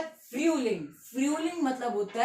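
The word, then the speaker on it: Frühling: कहते हैं फूलिंग फूलिंग पहले यू ठीक है जब भी यू उला उट जब भी यू उला उट तो हम साउंड जो होता है वो नीचे से ऊपर करते हैं नीचे से ऊपर मतलब फय ठीक है तो फलिंग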